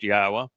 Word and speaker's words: Yahweh: why we know that his name is pronounced Yahwa, um, and what he's